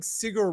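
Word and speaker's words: Sigur: a little bit big sigar Ross fan I don't know if you guys know this oh I remember cigar I thought it was sear it is sigar Roose sorry it's correct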